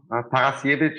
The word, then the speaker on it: Tarasiewicz: show thanks uh welcome parasievich is the austrian way of like pronouncing this and thanks for asking